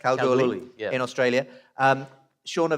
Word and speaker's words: Kalgoorlie: He's head of medicine at, is it pronounced Kalgoorlie Hospital? Yeah, that's correct. Kalgoorlie, yeah.